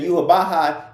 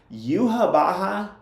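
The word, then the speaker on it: Yhwach: Yuhabaha is not even spelled like Yuhabaha sounds. Like, it's not even close. I think it's like YWACH or something like that.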